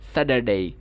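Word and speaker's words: Saturday: আমেরিকানটা সাধারণত রৌটিক হয়ে থাকে। সো ওরা এই যে আর যেটা আছে র সাউন্ড, সেটা উচ্চারণ করে। তারা বলবে কি? এটাকে বলবে Sudder, স্যাটারডে, স্যাটারডে, স্যাটারডে, স্যাটারডে, ঠিক আছে? সাধারণত দুইটা ভাওয়েলের মাঝখানে যখন টি থাকবে বা ঠ সাউন্ড থাকবে, এটাকে ড এর মতো করে উচ্চারণ করবে।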